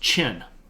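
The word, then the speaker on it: Qin: This one, spelled Q-I-N, is pronounced Chin. Like the thing that's right here.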